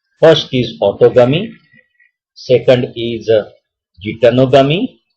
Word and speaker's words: geitonogamy: First is autogamy, second is geitonogamy. Some can pronounce it as a geitonogamy और कुछ ऐसे भी pronounce करते हैं गाइटनोगमी।